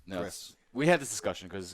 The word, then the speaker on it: Gris: which is I thought it was pronounced Gree. but Gree. it's No, Gris.